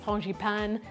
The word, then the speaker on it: frangipane: we're going to make the frangipan which in French is also known as ponji pan different pronunciation same thing and it's a sweetened